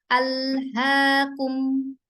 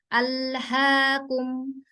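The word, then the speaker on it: ألهاكم: Kalau Ibu mau memastikan itu keluarnya sudah betul atau tidak, dipegang aja bagian daerah jakunnya gitu ya. Apakah sudah bergetar? Ketika dia bergetar berarti memang itu dari pita suara. Alhaakum.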